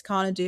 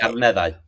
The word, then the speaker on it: Carneddau: And so, you've started this Carneddiw experience. Am I saying it right, by the way? Carneddau. Car Carneddau. Carneddau. Yeah, you're only half Carneddau. Carneddau. That's the easy part.